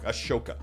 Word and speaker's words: Ahsoka: People claiming to be fans of the character, claiming to be fans of the show, and they so horribly butcher the spelling. Ashoka.